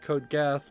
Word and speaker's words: Code Geass: shop for Code Geass which was supposed to be pronounced code gas but even I haven't heard anybody with a Japanese accent really pronounce it that way um per particular